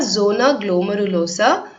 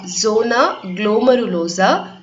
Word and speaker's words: zona glomerulosa: They are zona glomerulosa, zona fasciculata and zona reticularis. திருப்பி படிக்கிறேன், just note down the pronunciation. 3 types of cells வந்து adrenal cortexல இருக்கு. They are zona glomerulosa, zona fasciculata and zona reticularis.